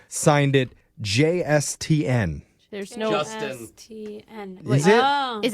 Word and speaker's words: JSTN: It's Justin, but it is spelled JSTN.